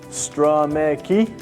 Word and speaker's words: Stromecki: That's pronounced Stromecki, okay, for those of you wondering.